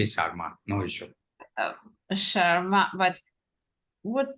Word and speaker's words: Sharma: really how would be the correct way of pronouncing your name Dr Sharma yeah you can say Sharma no issue Sharma but would be okay Rebecca